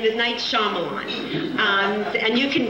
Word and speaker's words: Shyamalan: Not only is the Y silent, but you can remember his name Shyamalan because it's like a doo-wop song. Shyamalan. So you'll always remember now his name is Night Shyamalan.